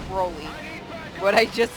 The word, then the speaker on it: Broly: I do it with Brawly too, because I know it's Broly, but I just say Brawly, because it annoys my friends.